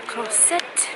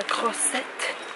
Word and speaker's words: Croisette: After some dessert, we're just walking along the La Croisette. I think after this, we're just gonna call it a night. What do you think of La Croisette? It's like a croissant.